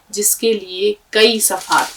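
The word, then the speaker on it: صفحات: सफ़हात असल में जमा है सफ़हे की, यानी पेज जिसको कहते हैं, सफ़हात। देखिए स्वाद पे ज़बर सफ़, हेल ज़बर हा, ते साकिन, सफ़हात।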